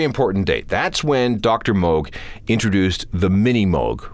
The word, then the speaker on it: Moog: date that's when Dr Moog introduced the mini Moog or as people came to pronounce it the mini moo it was small it